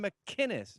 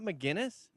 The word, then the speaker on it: McInnes: Why can't you do a hard C on McInnes? Gavin McInnes, not McGinnis.